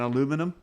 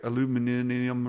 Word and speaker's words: aluminium: on it exactly either brass and aluminum or or as you say it their aluminium or how how do you say it in uk aluminium yeah yeah so it'll